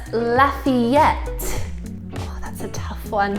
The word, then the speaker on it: Lafayette: next one for you it's not Lafayette but Lafayette oh that's a tough